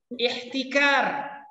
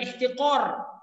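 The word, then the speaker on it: احتكار: Ihtikar. Hati-hati, bukan ihtiqor. Ihtikar.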